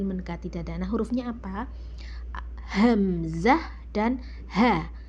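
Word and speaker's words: همزة: Cara pengucapan hamzah itu kayak ada tekanan ya, kayak di ah ditekan banget tekan ya.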